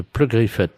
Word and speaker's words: Pleugriffet: Oui, de Pleugriffet. Alors, P R Comme ça se prononce, hein, Pleugriffet.